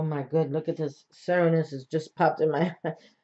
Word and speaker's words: Cernunnos: Pronounced Cernunnos.